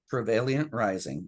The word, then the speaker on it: Travailiant Rising: And excuse me, because I just want to make sure I'm pronouncing that right. Is it Travailiant Rising? Travailiant Rising, yes.